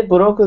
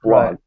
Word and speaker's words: blog: People will not understand if you say burogu. You have to say blog, one sound.